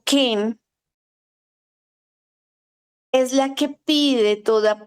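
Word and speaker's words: חן: de una raíz hebrea que se escribe con k de de kilo con h de hijo la letra e y n Ken k de kilo h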